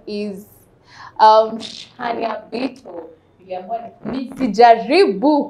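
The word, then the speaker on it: Shaniah Bito: Tuambie tu kama nimepronounce jina vizuri. Yeah. Shania Bito.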